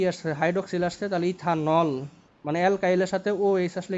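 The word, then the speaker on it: ethanal: আমাদের নামকরণ হওয়া উচিত ইথানেল আচ্ছা আমি একটু উচ্চারণ গুলো বলি আগে হ্যাঁ অ্যালকোহলের শেষে অল হবে আর অ্যালডিহাইডের ক্ষেত্রে এল হবে এল যেমন এটা কি লিখছি এটা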